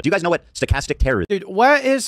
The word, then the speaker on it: stochastic: Stochastic terrorism.